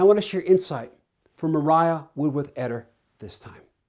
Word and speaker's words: Maria: to share insight from mariah wood with etter this time now i know her name spelt maria but she said mariah that's how i'm told she pronounced it this lady went through